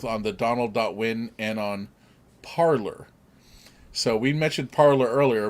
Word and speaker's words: Parler: If we take what it is, it's actually parler, which is a French word, But, and I forget what they call when you send a message on that platform.